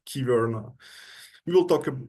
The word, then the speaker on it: Kyverno: the native speakers I heard that it's called Kyverno.